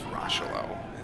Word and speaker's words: Rochelot: I do keep saying Rochelot, but I believe it's Rochelot is how it's supposed to be pronounced, so my apologies for Chris and any of his family members watching. He told me think of Rob Lowe, so I've been using